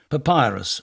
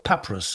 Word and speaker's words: Papyrus: claim to fame was the racehorse he owned Papyrus or Papyrus as the locals say a rank Outsider which won the Derby back in 1923.